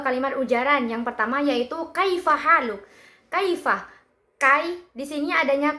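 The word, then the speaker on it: كيف حالك: Maka jelas di sini kaifa haluk, tekanan stres itu jatuh pada suku kata kai dan ha.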